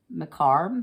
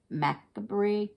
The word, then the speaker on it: macabre: I'll say this word macarb macarb is how you say it m-a-c-a Macabre I know I've heard